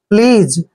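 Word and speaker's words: please: ई को ज पढ़ेंगे जब भी एस से पहले ए आता है तो एस का उच्चारण ज करते हैं प्लीज डिस पलीज होता है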